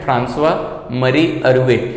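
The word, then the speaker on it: François-Marie Arouet: Actually इसका pronunciation है फ्रांसवा मरी अरुए, लेकिन आप इसको देखोगे तो आपको काफी डिफिकल्ट होगा प्रोनाउंसिएशन करने में।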